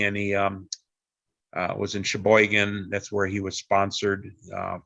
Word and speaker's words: Sheboygan: to go to sheboygan he didn't know how to pronounce sheboygan it was um because he didn't speak english very well he called it shabo gone and i still remember